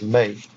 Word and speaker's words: me: But it's supposed to, all the E's in Babylonian and Sumerian are pronounced as the sound A, the actual vowel sound A. So it's not pronounced as me, it's pronounced as May.